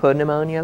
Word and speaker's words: pneumonia: It's pronounced pneumonia though.